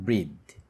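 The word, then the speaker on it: breath: নিঃশ্বাস নেই উই ওল্ড ব্রিথ এই ব্রিদ এই যখন এটা ভার্ব হবে তখন এটার উচ্চারণটা হবে ব্রিথ আর যখন এটা নাউন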